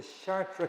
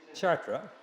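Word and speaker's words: Chartres: uh it's an old article but um the chartre cathedral anybody did you read it a little bit it's kind of hard it's short though when is where is the shark where is that chatra and anybody can pronounce French a little better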